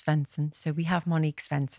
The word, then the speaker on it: Sveinsson: all about this go on how do we pronounce your surnames fenson oh i did get it right there he